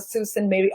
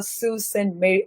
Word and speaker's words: Sault Ste. Marie: So we have to call it as a Sault Ste. Marie, Ontario.